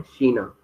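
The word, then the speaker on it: China: ही कमस from चाइना तो चाइना को pronounce किया जाता है जर्मन में शीना स्पेलिंग सेम है लेकिन प्रोनंसिएशन अलग है जो कि है शीना यहां तक क्लियर यस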